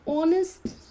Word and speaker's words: honest: am I am an honest person so again here H the silence honest now honest is your wall sound and that's why you